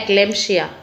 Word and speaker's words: एक्लेम्पशिया: इसकी प्रोनाउंसिएशन है एक्लेम्पशिया।